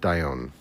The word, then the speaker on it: Dion: is beautiful love that FYI pronounced diione phonetically thank you very much Dion I appreciate it thank